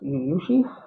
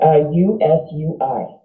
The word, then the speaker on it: Usui: It's Uyushi? It's Usui. Yeah, Uyushi. Yeah. Oh, it's only 4 letters, but it's hard to pronounce.